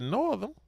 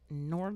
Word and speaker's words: Northam: I think they pronounce it Northam. That's it, Northam. Northam.